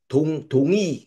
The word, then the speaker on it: Tongyi: Tungyi ya. Kalau Mandarinnya namanya Tungyi ya bacanya kayak gitu ya.